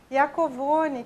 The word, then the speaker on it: Iacovone: Vamos falar a pronúncia correta. Adriana Iacovoni, que veio ao estúdio atendendo o nosso convite, e eu agradeço muito sua presença, Adriana.